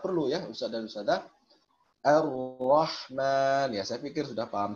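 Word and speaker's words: الرحمن: Sebagian masih ada yang terkecoh bacanya Al-Rahman, tapi sembunyi-sembunyi bacanya, artinya suaranya nggak mau dikerasin ya. Tapi kalau kita perhatikan gerak bibirnya ini cenderung masih terucap lamnya Ar-Rah, masih ada terucap lamnya.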